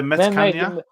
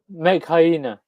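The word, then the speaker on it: Metkayina: The Metkania? Mekhaina. Mekhaina. They pronounce it a lot better than I can.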